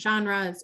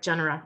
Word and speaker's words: genera: so like perhaps different genres or just different species within um the same genre that kind of thing oh sorry genera i'm saying the wrong pronunciation um i haven't seen